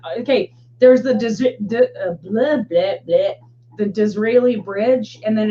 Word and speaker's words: Disraeli: saying Disraeli freeway or Israeli freeway. I'm like, no, it's the Disraeli. Yeah, it's spelled Israeli, but with a D at the front.